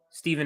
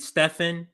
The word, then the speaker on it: Stephen: him i know it you might read stefan he doesn't pronounce it that way it's stephen a smith the only person that